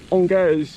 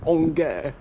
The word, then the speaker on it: Angers: path going right into the centre of the city, and I think Angers is no exception.